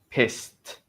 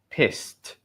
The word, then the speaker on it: pissed: Pissed. Remember, get that pronunciation because it ends in an s sound. Piss. So, we have to have the t sound. Pissed.